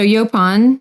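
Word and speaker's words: yaupon: um and then the next is yopon so yopon is spelled y-a-u-p-o-n um and this is a native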